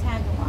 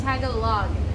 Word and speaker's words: Tagalog: it's tagalong tagalog tag along but it's not pronounced tagalog no it's tago log there's a giant title anyway um aside from